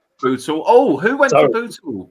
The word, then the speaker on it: Bootle: Labour hold Bottle, or Bootle, I should say. Bootle.